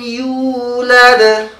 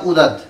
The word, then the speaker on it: يولد: লাম ইয়ালিদ ওয়া লাম ইউলাদ ওয়া লাম ইউলাদ ওয়া লাম يولد ولم يولد يو يو অনেকে উ বলে ওয়ালাম উদাদ। হ্যাঁ, এবারে পড়লে হবে না, ইয়ার উচ্চারণটাকে সুন্দর করতে হবে।